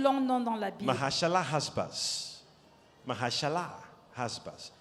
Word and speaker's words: Maher-Shalal-Hash-Baz: Mahashalah, Hashbaz. Maher-Shalal, It's the Hashbaz. longest name in the Bible. C'est le plus long nom dans la Bible. Mahashalah Hashbaz.